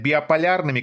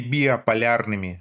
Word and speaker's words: биполярными: даже Microsoft Word выделяет биполярными красным и предлагает вариант исправления. Угадайте какой? Биполярными, Сева, а не биополярными.